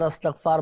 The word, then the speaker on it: استغفار: اچھا یہاں پر بعض اوقات تلفظ میں بھی لوگ غلطیاں کر جاتے ہیں, استغفار استغفار بول رہے ہوتے ہیں. صحیح جو تلفظ ہے نا وہ ہے استغفار, استغفار.